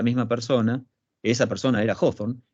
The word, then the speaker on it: Hawthorne: cambio en su apellido y agrega esa W para que el apellido se pronuncie un poquito distinto. Pasa de ser Hawthorne a ser Hawthorne, ¿sí?